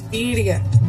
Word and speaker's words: Birria: Even though I didn't say that right, because I can't roll my tongue, we have Miss Casey and Mike over there. How you say it, Casey? It's Birria.